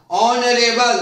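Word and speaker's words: honourable: तो देखो यहां ऑनरेबल उच्चारण यहां से हो रहा है, ओ से हो रहा है, जबकि एच का उच्चारण ह होता है, तो उच्चारण ऑनरेबल होता है, ऑनरेबल नहीं हो रहा,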